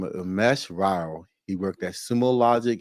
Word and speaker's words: Umesh Rao: Umesh Rao.